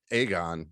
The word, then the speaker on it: Aegon: And her scene with her Aegon, right? That's how you say it. Yeah, Aegon.